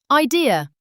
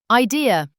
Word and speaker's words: idea: Idea. Idea. Don't add r at the end.